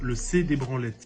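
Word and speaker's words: Sex des Branlettes: c'est réel en fait ça s'écrit vraiment le sexe des branlettes en Suisse on le prononce le C des branlettes imagine tu es là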